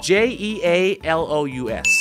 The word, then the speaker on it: jealous: the rain I'm sick of the rain หมายเลข7นะครับ J E A L O U S J E A L O U S ออกเสียงคล้ายๆแบบนี้ครับวันนี้คุณมีเพื่อนผู้หญิงคนนึงเขาอายุมากกว่าคุณพอสมควรคุณเรียกเขาว่าเจแล้ววันนี้คุณจะไปออกงานแล้วคุณเห็นโอ้โหเจเลิศมากอ่ะเจเลิศนะฮะ jealous jealous แปลว่าอะไรครับแปลว่าอะไรแปลว่าอิจฉา I am jealous of